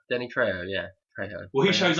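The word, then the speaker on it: Danny Trejo: Danny TR TR am I saying it right Danny tro Danny tro yeah tro well he shows up after the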